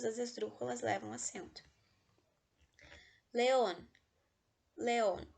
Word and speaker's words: León: León, última sílaba é a sílaba tônica, ou seja, é uma aguda.